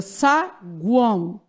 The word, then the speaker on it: saguão: Então, você pronuncia saguão. O, semivogal, o A, vogal e o O, gente. Semivogal, porque ele tem som de quê? U. Saguão.